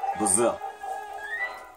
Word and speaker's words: Bowser: Quand c'est un S, mais on prononce comme si c'était un Z. Bowser.